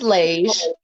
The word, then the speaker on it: Laghe: Well, my name is Lage. Word association helps because it's spelled Laghe. Ain't spelled nothing like it looks like it sounds or looks. So, beige, Lage, you in there.